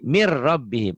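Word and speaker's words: من ربهم: Nah, kemudian yang ini min rabbihim tuh ditulisnya ya. Min rabbihim. Dibacanya jadi mir rabbihim.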